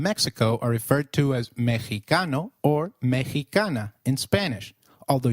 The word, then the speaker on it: Mexicano: While X is usually pronounced as X inflexible, it is pronounced as a throaty H in the words Mexico, Mexicano, and Oaxaca, which is a state in Mexico. So, can you try saying Mexicano?